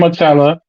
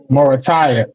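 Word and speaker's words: Muratalla: You got Raymond Moratala. Sorry. And you got Morataya. And you got Zayor Abdulalavi. Saying that name wrong.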